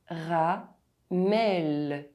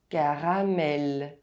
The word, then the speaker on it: caramel: As you can see, the two As are pronounced exactly the same in French. caramel caramel How do you say these words?